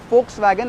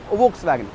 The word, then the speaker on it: Volkswagen: and not volkswagen miss the hence we say folks wagon and not volkswagen so v is pronounced s ha o fa o you can